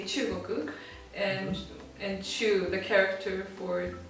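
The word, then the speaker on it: 中国: Well, in Japanese we say chugoku, and chu, the character for chu is like translates to middle or center.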